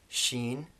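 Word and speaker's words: شين: Sheen, which is the English equivalent is sh, in words like shatter, for example.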